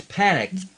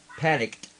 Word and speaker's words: panicked: now see that's that's panck panicked right so you've gotta feel that hear that final T panicked a panicked yeah